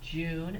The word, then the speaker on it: June: Ju, long U, June, and then we need silent E to make U say its name.